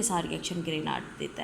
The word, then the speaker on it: Grignard: ए जाएंगे ठीक है कुछ लोग कहते हैं की यह साइलेंट होता है तो ये आपके पास ग्रीन जो जी इसके अंदर ये साइलेंट होता है तो ये आपके